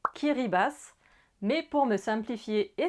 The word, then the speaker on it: Kiribati: Les Kiribati se prononcent en réalité Kiribas.